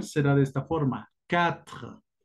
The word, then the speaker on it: quatre: Quatre, quatre. Atención a la R, es muy gutural.